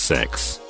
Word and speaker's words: CEX: Unprotected CEX at a used electronics / games retailer whose name is pronounced as sex.